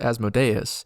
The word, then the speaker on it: Asmodeus: Asmodeus, alternatively pronounced Asmodeus, is content for people to think he's an archduke.